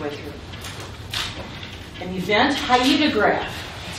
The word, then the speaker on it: hyetograph: An event hyetograph, that's how you pronounce it, a hyetograph, shows the distribution of precipitation over time.